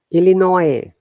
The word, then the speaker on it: Illinois: it except one word you never pronounce that sound i'm writing the name it's the state of the usa stands starts with i and finishes s but we do not pronounce us yes in a second this this state can you pronounce this app written in the comment section linear nice illinois not absolutely yes no s sound okay so lists wishes